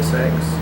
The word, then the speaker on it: Sachse: My brother says Saxe, Sachse? I say Saxe. But my children say Saxe because it's easier for people. Sachse. Yeah, just like SAX.